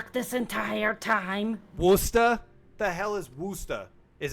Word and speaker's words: Worcester: Worcester is Worcester. Oh, I want. Yeah, phonetically. it's Worcester. Phonetically. Worcester. Worcester It's is Worcester. Worcester. So you do not pronounce the C-H-E.